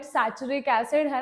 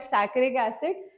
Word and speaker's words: saccharic acid: Some call it saturic acid. Don't just don't go with the pronunciation, right? I call it saccharic acid.